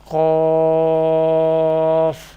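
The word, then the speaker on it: ق: The next Musta'liyah letter is Qaf. Qaf. Qaf. Qaf. This Musta'liyah letter will be pronounced from the roots of the tongue and the soft palate.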